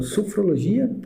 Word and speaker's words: sofrologia: E retomando ao ponto que a Dulcinea comentou, né, do sofrologia, eu estou pronunciando correto?